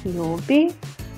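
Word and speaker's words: 曜日: Йоби. О будет долгое. О. Йоби.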